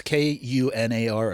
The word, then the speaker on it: Kunar: spelled two ways it's k u n a r or k o n a r I've heard kunar or conar yeah that's yeah k